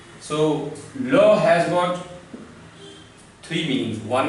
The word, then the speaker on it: la: tell you one thing we pronounce it as love because in french last e is mute so law has got three meanings